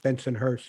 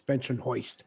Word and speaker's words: Bensonhurst: Although in Brooklyn, it's not pronounced Bensonhurst; it's Bensonhoist.